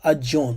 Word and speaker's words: Aten: Akhenaten praised and elevated, can also be called or pronounced Adon, right? The term Aten can be pronounced Adon, which is very close with the Hebrew Adon, which is a reference to sun god, sunrise and sunset.